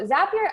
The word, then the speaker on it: Zapier: next we have zapier so zapier actually rhymes with happier which is a fun